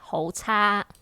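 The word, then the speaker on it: 好差: Ta, So very bad is ho cha. ho ta. Okay, it's like CHAA. Cha. Yeah.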